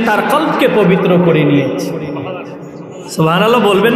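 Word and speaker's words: قلب: বাড়বে ইনশাল্লাহ নিশ্চিত সফল কাম সেই যে তার কলবকে পবিত্র করলো সুবহানাল্লাহ কি পবিত্র করলো না শব্দটা ভুল উচ্চারণ করেছেন আমরা অনেকেই শব্দটা ভুল উচ্চারণ করি শব্দটা কলব হবে না শব্দটা হবে কালব বড় কাফ দিয়ে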